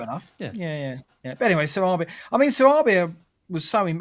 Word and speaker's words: Sarabia: know I thought you'd watch the Premier League pronunciation always called him Sarabia right you're wrong it's Sarabia Sarabia complet I'm sure I'm sure wol Pack's